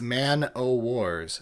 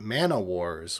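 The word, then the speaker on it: man-o'-war: That's Man-O-Wars, not Manawars, which sounds like an offshoot of magic.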